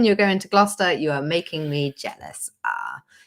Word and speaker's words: Gloucester: I posted up about Gloucester a lot of people in the states were like how do you say Gloucester oh yeah it's like Glau sister bow sister Shire yeah Gloucester or gloucestershire